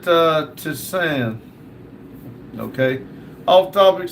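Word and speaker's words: tisane: James said, we pronounce it Tisan.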